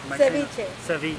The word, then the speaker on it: ceviche: Ceviche.